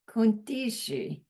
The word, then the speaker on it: kuntrishi: It's spelled like this, kuntrishi. She means the number 4. But when Geshe says it, listen carefully, it's kuntishi. Somehow that R is like rolled back or something, so you can't hear it.